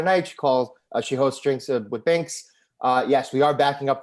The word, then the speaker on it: Binks: I mean, I'm so glad that at least Binks rhymes with drinks because then this is made now for a second career, I guess.